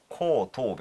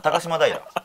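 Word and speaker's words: 高島平: ですかはいえこ東部ですかねなんこ東部じゃなく高島高島平高島平って読むんですね高島平はい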